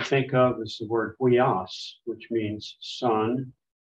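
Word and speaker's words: υἱός: One I can think of is the word huias, which means sun. The first two letters are a diphthong, upsilon, iota, but the iota and the omicron after it, that's not a diphthong, so that's a separate syllable.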